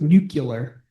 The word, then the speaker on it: nuclear: It's pronounced pronounced nuclear. Oh, nuclear in the Homer Simpson vernacular.